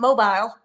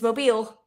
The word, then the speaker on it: Mobile: of the fact that nobody knows how to pronounce Mobile. It's not Mobile, it's Mobile. Just say Mobile or Mobile.